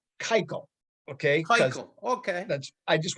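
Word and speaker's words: Keuchel: want to just so you know it's it's kaiko okay okay that's i just want to just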